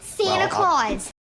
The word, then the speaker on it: Santa Claus: Santa Claus. This is funny too, because Brits don't even say Santa Claus with a true T because they call him Father Christmas. Yeah, Father Christmas. So no Santa Claus exists.